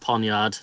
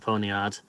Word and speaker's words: poniard: there apparently it's called it's pronounced ponyard not pony art oh it's not a